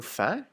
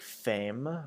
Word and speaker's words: faim: And this one, make sure that you're pronouncing faim, F-A-I-M, like faim, and not like femme or femme, because femme is the word for woman. So just careful with that one. So it should be pronounced faim. So sort of like an F-A-Y sort of sound, faim.